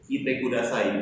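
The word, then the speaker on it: 来てください: Kalau yang ini memiliki satu huruf i, yaitu kite kudasai, dibaca cepat.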